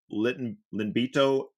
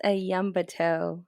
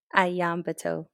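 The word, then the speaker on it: Iyanbito: She grew up in Linbito, New Mexico. Did I get it right? No, it's actually pronounced Ayambato, and it's Oh, a small community on the Navajo reservation. so Iambito? Ayambato, yes.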